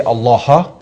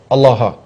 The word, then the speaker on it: Allah: he probably said uh allaha allaha it's a different pronunciation because because it wouldn't have the doubling or the shed on the lamp so it's kind of like a different dialect but the same word a same same word Allah allaha I I